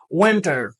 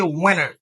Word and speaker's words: winter: pour finir qui c'est winter winter si m' prononcer ta normalement ou bien prononciation originale m dit winter mais pas étonné que américain plus souvent il rép c'est winner ok winner winner ok